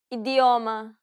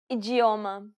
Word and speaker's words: idioma: in the next lesson the letters d and T can sometimes be pronounced differently from what you would expect first let's see the two ways you can pronounce the d Ade idioma ijioma now pay attention to